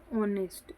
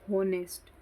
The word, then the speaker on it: honest: जैसे for example एक word है यहाँ पर ऑनेस्ट, HONEST, ऑनेस्ट. अब बहुत सारे लोग इसको बोलेंगे होनेस्ट, तो ये गलत, आप प्रोनाउंसिएशन ही गलत बोलते हैं. इसकी सही प्रोनाउंसिएशन क्या होती है? ऑनेस्ट.